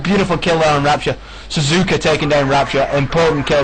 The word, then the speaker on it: Suzuka: Looks like we've got the T90 of, that would be Suzuka, or Suzuka, actually Suzuka, yeah, let's get the pronunciation right.